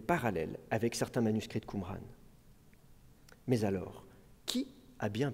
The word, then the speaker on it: Qumran: Au XIXe siècle, on pense que le nom arabe Qumran, qui peut se prononcer aussi Gomran, pourrait dériver de Gomorre,